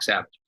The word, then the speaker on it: Sauvage: And ours is called Dok Sauvage. We spell it differently. It's Dok with a K, so it's D-O-K, and it's Savage with a U-E or Sauvage.